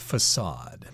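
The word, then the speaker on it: façade: and that means that the letter c above it should be pronounced with the S sound facade and here we see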